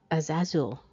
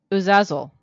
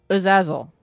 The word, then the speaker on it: Azazel: Okay. Ready? Are you? Okay. Uzazel. Uzazel. That's how you say it.